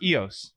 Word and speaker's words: Eos: No, it's EOS. It is pronounced EOS.